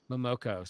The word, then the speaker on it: Momoko: Momoko.